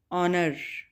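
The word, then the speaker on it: honour: H silent होगा, ऑनर, इज्जत, ठीक है, इसका मीनिंग है इज्जत।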